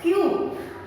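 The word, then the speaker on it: queue: This Q is followed by 4 silent letters, children. U silent, E silent, U silent, E silent. Q.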